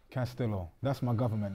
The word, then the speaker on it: Castillo: Castillo. That's my government name, my last name. Either your name or your age. I need something. Well, my name Castillo. Castillo what? And it's not Castillo, it's Castillo.